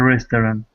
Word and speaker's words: restaurant: and money at a restaurant. Try to convince your friend to do it your way. Yeah. Restaurant. Can you repeat restaurant? Restaurant. Close. Almost 2 syllables.